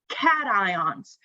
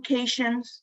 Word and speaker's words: cation: charged ions are called cations please don't call them cajuns that's not how you pronounce it it is called a cation now when non-metals accept